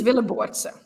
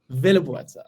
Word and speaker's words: Willeboordse: Did I pronounce the name properly? Almost, yes. But even I struggle still. But it's Willeboordse. Willeboordse.